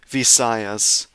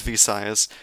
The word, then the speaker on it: Visayas: Is it Visayas? Visayas. I'm going to pull up Google Translate. See, Vas, Visayas, Visayas.